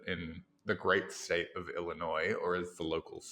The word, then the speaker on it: Illinois: my last visit in the great state of Illinois, or as the locals say, Illinois, I tried Lucky Charms for the first time.